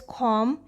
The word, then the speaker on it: comb: example the word is com we say com but we write comb with the burst sound at the end here b is silent in the word knife